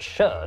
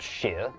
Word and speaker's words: shire: pronounced sheer not shire actually it's pronounced sher not sheer plebs over the centuries